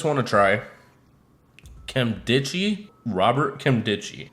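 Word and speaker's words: Nkemdiche: Robert Kemdichi. I'm pretty sure the N is silent, so I'm going to go with that.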